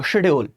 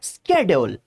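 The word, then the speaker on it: schedule: कितना अच्छा पढ़ते थे इसको शेड्यूल। सब कुछ ठीक चल रहा था। फिर आई इंटरनेट की लाल लिपस्टिक वाली मैडम्स। और इसको पढ़ना शुरू किया स्ेड्यूल। दुनिया की किसी डिक्शनरी में। इसको स्केेड्यूल नहीं पढ़ा जाता है। इसको या तो पढ़ेंगे स्केजूल्य। अगर तुम्हें क घुसाना है तो अमेरिकन प्रोनाउंसिएशन है स्कैजोल स्केजल या शेड्यूल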